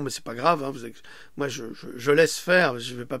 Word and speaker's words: Xi: c'est pas grave moi je laisse faire je vais pas perdre mon temps rentrer dans les polémiques parce que là le président chinois qui s'appelle J et que ça s'écrit si XI et bien il a